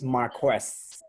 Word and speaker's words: Marquess: According to Susan, it's Marquess. Marquess. So it's KW.